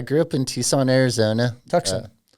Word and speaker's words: Tucson: Tucson. Tucson is how the locals pronounce it.